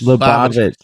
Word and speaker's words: Lubavitch: Lubavitch, yeah.